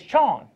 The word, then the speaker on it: Chon: But it turns out it's Chon. How you say it? Chon. Do you, Mike? Right. Use the mic. Chon. Chon. Like, okay. Asian. How you spell it? Chawn.